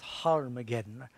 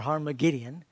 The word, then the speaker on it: Armageddon: Says he gathered them together to a place called in the Hebrew tongue Armageddon, or might be pronounced Harmageddon or Harmagideon.